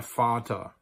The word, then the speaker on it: Vater: end of the word, it is most likely, almost always pronounced like an F. Here are some examples. Der Vater.